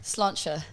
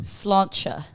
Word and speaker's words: sláinte: Sláinte. Again? Sláinte.